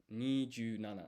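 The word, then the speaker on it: 二十七: Maybe we can ask ChatGPT, or how is 27 pronounced in Japanese? Nijunana, right? So here we have Nijunana.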